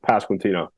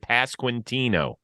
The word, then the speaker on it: Pasquantino: But it's just Pasquantino, just how it sounds or how it's spelled. So the way they have it on Baseball Reference, they have the pronunciation. Yeah. We're good with Pasquantino.